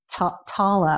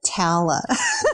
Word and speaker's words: Tala: Although people mispronounce just Tala also, they pronounce it Tala.